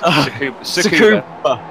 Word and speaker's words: Tsukuba: So yeah, it's the new circuit that Ryan tried to pronounce, isn't it? Yeah. Okay. Matt Bunn called it Sue Barker's house. It's Tsukuba.